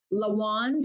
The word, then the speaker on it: Lawand: spelling of my name lawand rhymes with the wand and if you think